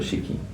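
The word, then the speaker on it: し: ক্ষেত্রে এক দুই চলুন আমরা পরের বর্ণগুলো শিখি সাটা কি এর মত শুধু কি এর ক্ষেত্রে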